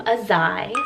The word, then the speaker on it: Azai: or even jus so kind of like kai take the k off make it a little bit more edgier and you have a zai another one i have